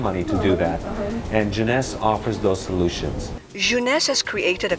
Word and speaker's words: jeunesse: we say you know the toughest part about joining this business is to say the word jeunesse some people say Genesis you know they can't pronounce it but even after six months in the business they still have a tough time but once you master